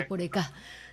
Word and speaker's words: Yeporeka: Yeporeka. Las Yeporeka, palabras guaraníes tienen siempre un acento en la última sílaba, Yeporeka.